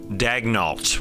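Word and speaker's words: Daigneault: And remember, it's pronounced Daignault when talking about the Thunder's head coach, although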